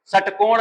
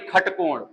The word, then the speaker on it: षटकोण: सडानन नहीं, खडानन, षटकोण नहीं, खटकोण।